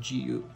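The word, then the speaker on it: Jiwoo: and we also have gu which is spelled like actually j-i-w-o-o but you pronounce it as g-u so um those are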